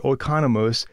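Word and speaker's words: οἰκονόμος: Now, that word steward here in verse 1 is the Greek word economies or oikonomos, depending on how you want to pronounce it.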